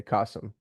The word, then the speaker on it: Kasim: I tell everybody it's it's like awesome with a K. Kasum.